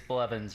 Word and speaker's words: Blevins: It's Blevins, right? Is that how you say it? It is Blevins, yep.